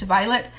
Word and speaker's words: Violent: It's called Violet or Violent. It says underneath the N is silent, so I take it it's Violet.